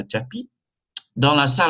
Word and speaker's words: tapis: Un tapis, S is silent, un tapis.